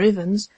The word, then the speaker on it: Evans: Miss Evans, or Ivans, to adopt the pronunciation most in vogue with her circle of acquaintance, had adopted in early